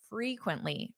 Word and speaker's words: frequently: Well, we have one man and we have the word frequently. Repeat after me. Frequently. Quintly. Quintly. Frequently. Notice that syllable stress. It sounds louder on which syllable? Frequently. Da da da. Frequently. The first syllable.